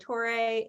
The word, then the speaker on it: Torre: it I say it yeah I say it Tori sometimes I say Tori like Joe Tori I've